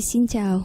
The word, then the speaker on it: Xin chào: En général, on dit Xin chào. Xin chào. Voilà. Ah, donc j'ai bien prononcé, ouais.